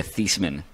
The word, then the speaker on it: Theismann: Yeah, and he changed the way his name is pronounced so it would rhyme with Heisman as part of his Heisman case. Yeah, Theismann.